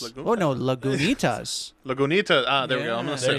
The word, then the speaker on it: Lagunitas: I have no idea how to pronounce this. Is that Laguna? Laguna? It's got a T in it though. Laguntas. Laguntas. Oh, no, Lagunitas.